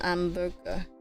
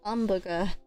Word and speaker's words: hamburger: un hamburger. Hamburger. Hamburger. Hamburger. Hamburger. Hamburger. Interesting. The H is silent.